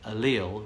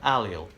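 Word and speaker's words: allele: book for this kind of thing does specify alil rather than alel and most dictionaries that I found online also specify alil over alel however the Oxford dictionary says alel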